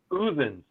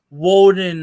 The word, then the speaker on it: Odin: The pronunciation is more like Uthin. Odin. Yeah. Interesting. I've also heard it pronounced like Woden or Wooden.